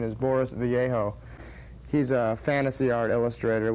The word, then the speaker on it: Boris Vallejo: one of which is, I'm pretty sure the pronunciation is Boris Vallejo.